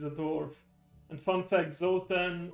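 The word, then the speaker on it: Zoltan: And fun fact, Zotan or Zultan in the original pronunciation is a Hungarian name, so I automatically like him.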